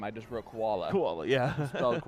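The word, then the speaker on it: Chachvala: h v a l a and the correct pronunciation is koala yep is crazy you know how i know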